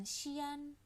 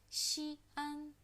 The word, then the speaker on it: 西安: Begitu lebih tepat, jangan Xi'an. Jadi dia bukan digabung ya bacanya antara huruf I dan huruf A. Xi'an.